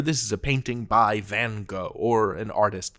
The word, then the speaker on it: Van Gogh: And actually, the authentic pronunciation of Vincent van Gogh's name in Dutch is something like Van Gogh.